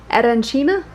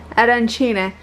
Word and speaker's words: arancine: Raph got these arancina? Arancine.